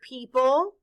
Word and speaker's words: people: Say the word people.